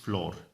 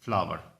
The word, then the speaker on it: flower: एंड फ्लावर, don't pronounce it floor, it is a mispronunciation. The exact pronunciations of this word is flower.